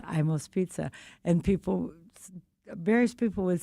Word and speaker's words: Imo: Ed was pronouncing his name Imo. Okay. His brother was Johnny Emo. His mother was Lena Emo, and for some reason, Eddie was always Eddie Imo.